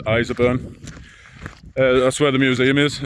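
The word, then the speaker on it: Ireshopeburn: It's pronounced Iserburn.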